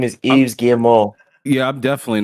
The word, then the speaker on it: Yves Guillemot: Yeah, I looked up how to pronounce his name. It's Yves Guillemot.